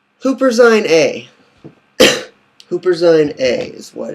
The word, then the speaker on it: Huperzine A: Wish I could show you a picture, but it's spelled Huper Zine, Z-I-N, and then space, capital A. Huperzine A.